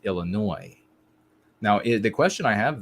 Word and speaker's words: Illinois: And I was corrected, Anglo-America, you also have a silent S on the Illinois with the Illinoisan. Apparently you don't, when you have the IAN, you don't leave the S sound. But it is the same as just Illinois.